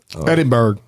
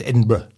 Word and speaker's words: Edinburgh: miles outside the country's capital capital Scotland boys Edinburg well almost right it's edinberg it's spelled like you would say Edinburg but it